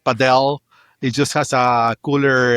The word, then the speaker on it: Padel: Is it Conquer Padell or is it Paddle? Which one is it? This is a ongoing debate, man. I call it Padell.